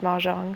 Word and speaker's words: Mojang: The game's pronounced ma jang.